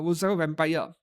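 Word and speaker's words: Rosario + Vampire: So only the top is cast offable not the bottom and this anime Rosario plus vampire or roar vampire the plus is silent.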